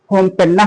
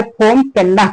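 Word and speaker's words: Phnom Penh: वैसे सारी किताबों में ये लिखा है नोमपेना और बहुत से लोग जो इसका प्रोनाउंसिएशन करते हैं होमपेना कहते हैं। तो कंबोडिया की कैपिटल ना होमपेना कहो चाहे फोम पेना कहो।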